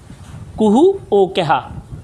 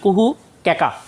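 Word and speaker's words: কুহু ও কেকা: একটু খেয়াল করো, আমি বোধহয় স্লাইড পড়তে যাইয়া এই উচ্চারণটা একটু ভুল করেছিলাম। তার সত্যেন্দ্রনাথ দত্তের আরেকটা বিখ্যাত গ্রন্থ নাম হচ্ছে কুহু কেকা।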